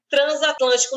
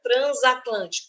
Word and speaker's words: transatlântico: que a gente tem por que este S aqui do prefixo trans tem som de z tem o fonema Z Transatlântico não está entre vogais tem o N aqui é pelo prefixo é por causa do prefixo Eu não falo transatlântica Transatlântico transação transitiva o s ele vai ter som de z se ele tiver entre vogais mas não está só que